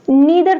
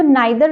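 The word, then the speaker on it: neither: can pronounce next is नीदर नॉर नीदर nor again आप इसको नाइ दर नॉर भी प्रोनाउंस कर सकते हो that is also correct नीदर नॉर नाइ दर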